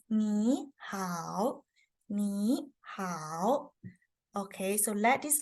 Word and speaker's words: 你好: How do we pronounce 你好? It's 你好, 你好.